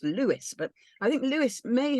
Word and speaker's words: Louis: say it as um it's pronounced Lewis but I think Lewis